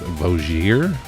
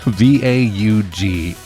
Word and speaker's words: Vaugier: Valerie is played by Emmanuelle, I believe it's Vaugier. Cool name. V-A- Either way. Yeah, Vaugier. That seems right to me. Yeah, Vaugier.